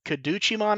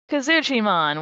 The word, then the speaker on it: Kazuchimon: Kaduchimon or Kazuchimon? Kazuchimon, which is actually how you would pronounce it.